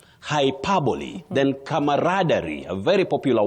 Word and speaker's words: hyperbole: The second word, hyperbole. Not hyperable. Hyperbole.